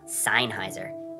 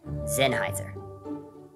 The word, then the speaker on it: Sennheiser: pronounce his own gear it's not seinheiser it's sennheiser zen heiser sennheiser zen